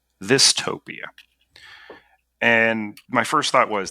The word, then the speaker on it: Thistopia: I was driving around in the rain, and it was just like, Thistopia. And my first thought was, that's dumb. It rhymes with dystopia.